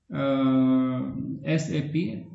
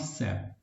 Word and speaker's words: SAP: तो this is SAP नॉट सैप। ये please इसको करेक्ट कीजिएगा, क्योंकि बहुत से माशा से जो है ना वो प्रोनाउंस कर रहे होते हैं, ये गलत है।